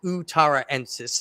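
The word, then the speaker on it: utaraensis: Azuria Utar utarensis um it's spelled utar uterensis but it's utarensis and I forget exactly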